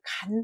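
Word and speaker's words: 乾: 마르다 할 때가 제일 많이 쓰는 한자인데 마르다라고 할 때는 원래 간 발음을 해야 이게 본은입니다. 그런데 한자의 활용법을 보시다시피 다 건자입니다. 그래서 이 간은 본 발음이고 거의 건 발음을 하고 얘는 하늘 뜻보다는 마르다라는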